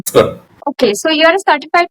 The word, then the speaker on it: Scrum: So, okay, you are a certified Scrum product owner, if I'm pronouncing it correctly. It's Scrum. Scrum.